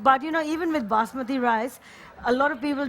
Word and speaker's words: basmati: really beautiful fragrance because this of course is basmati rice correctly pronounced and basmati means the queen of fragrance